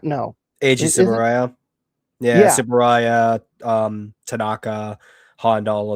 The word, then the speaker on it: Eiji Tsuburaya: What did oh, and I'm going to butcher the name horribly. You could probably help me out with it. Ichi Tsuburaya, no. Eiji Tsuburaya.